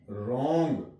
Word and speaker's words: wrong: WRONG, रॉन्ग, आर से इसकी sound लेंगे, यहां पे भी डब्ल्यू साइलेंट है।